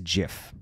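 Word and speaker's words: GIF: the correct way to pronounce this word is Jif you can access the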